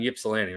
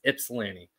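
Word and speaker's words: Ypsilanti: is she she's in Yip Salan right I gotta stop saying Yip I was I was told I say that incorrectly you do not pronounce the why it's IPS Lanny uh I think that's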